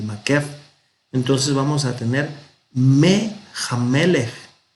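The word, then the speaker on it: מֵהַמֶּלֶךְ: Resulta que esta letra nun a veces no se pronuncia, a veces se pierde. Entonces aquí al perderse, compensó la i y se hizo una sere. Y entonces tenemos Mehamelech, del rey.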